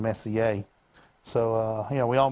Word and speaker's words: Messier: I pronounced Charles Messier for about the first 30 years of my life until I figured out it was French and Messier.